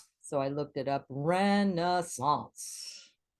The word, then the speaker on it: Renaissance: Renaissance. It's a 3-syllable word, but here it looks like a 2-syllable. You could say Renaissance, and it's 2.